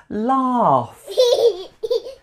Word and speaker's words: laugh: this common verb haha laugh laugh you can can hear that F sound at the end even though the spelling is GH it's a sound made